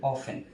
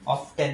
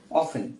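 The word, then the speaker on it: often: এটার উচ্চারণ কিন্তু অফেন। যদিও একটা টি ওয়ার্ড রয়েছে। অফটেন না উচ্চারণ হবে অফেন।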